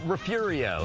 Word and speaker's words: Refugio: It's not Refugio, is it? There you go. Yeah, well, Refurio. Refurio. Yeah, Refurio. Yeah, Fury right in the middle.